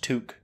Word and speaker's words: toque: It's pronounced toque.